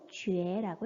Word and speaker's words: 觉: 즉, 우리 본문에 사용되어 있는 뭐뭐라고 생각하다 라는 단어를 만들 때 어떻게 읽나요? 觉라고 읽습니다. 그래서 뭐뭐라고 느끼다 라고 할 때 觉라고 하는 발음, 즉 두 가지의 발음이 있는 거죠. 叫 하나, 觉 하나.